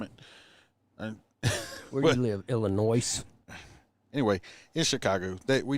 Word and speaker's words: Illinois: in my entire life the s is silent illinois well however you want